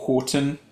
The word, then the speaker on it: Houghton: Combe and written by Don Houghton, or Horton, depending how you say it.